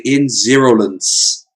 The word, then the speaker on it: Ins0lence: We're also joined for the first time by Ins0lence, and all I can think of is that's a 0, so I could say Ins0lence. Yes, exactly. That's how you pronounce it, everyone.